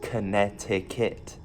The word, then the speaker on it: Connecticut: And Connecticut, where's the C? Connecticut. That's how you spell it, but it's pronounced Connecticut. Okay, now here's the one that's gonna get my friends mad.